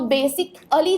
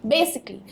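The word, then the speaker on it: basically: सो बेसिकली के लिए हम बेसिक और अली वर्ड जो है उस तरीके से प्रोनाउंस करते हैं और नॉर्मली इसकी प्रोनाउंसिएशन निकल के आती है बेसिकली। तो बेसिक अली जो है वो बिल्कुल गलत है प्रोनाउंसिएशन वाइज, इसकी सही प्रोनाउंसिएशन है बेसिकली। तो LLY का साउंड आएगा, ना कि ALLY, राइट।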